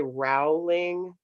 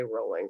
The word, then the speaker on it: Rowling: am bound to say, I'm trying to say Rowling. That's how you say her name. but I always say Rowling.